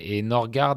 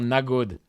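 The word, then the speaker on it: Nørgaard: Et Norgard, il y a d'ailleurs Christian Norgard, quand il prononce son nom. D'ailleurs, ça doit être pareil avec Adegård. C'est pas ça, c'est comme ça. Norgard. Christian Norgard. Non, mais c'est un truc genre Nagod.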